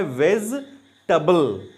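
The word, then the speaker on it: vegetable: टेबल नहीं पढ़ते हैं, उसको टबल पढ़ते हैं, टबल। तो वर्ड बनता है वेज टबल, वेज टबल। साथ में जब हम इसको पढ़ेंगे तो वर्ड बनेगा वेजिटेबल।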